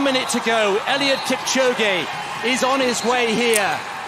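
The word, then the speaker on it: Kipchoge: we have one minute to go Elliot Kip chog is on his way here this humble farmer chog that's how you say his name ellot go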